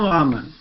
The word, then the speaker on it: Muhammad: Usman Muhammad.